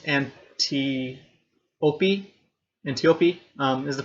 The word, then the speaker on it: Antiope: Antiope is the pronunciation.